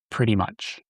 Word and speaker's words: pretty much: Notice how the T's are pronounced as D's. Pretty much.